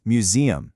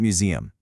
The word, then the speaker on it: museum: It's museum stressing that middle syllable, not museum.